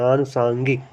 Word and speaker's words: आनुषंगिक: पर बना लेना है तो अनुसक नहीं आनु संगिक होता है आनु संगिक संगिक यह भी गलत है आनुषंगिक अनुषंगिक होगा तो उच्चारण भी हमको ध्यान में रखना है आनु आंगिक होगा